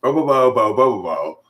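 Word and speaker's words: Bobobo-bo Bo-bobo: Bo bo bo bo bo bo bo. That's how it's pronounced. Bo bo bo bo bo bo bo.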